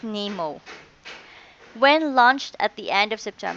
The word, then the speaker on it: NEMO: DAV and the California Maritime University are developing an autonomous boat called N3MO, or rather pronounced NEMO.